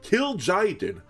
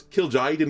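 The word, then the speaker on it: Kil'jaeden: really help me but I believe it's kill Jen is how it's like said 7- 77 demon battlecry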